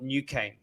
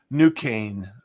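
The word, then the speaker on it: Nucane: is a technology called new cane new kane yeah spelled with a k right uh you n u c a and e n u c a n e okay all right uh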